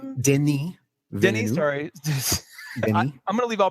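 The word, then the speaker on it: Denis: directed a rival and I only know that that French name is pronounced that way because there's a blondie song called Denny Den ah okay he uh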